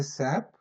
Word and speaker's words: SAP: the independent similarly okay we have to call it as SAP independent letters okay don't call it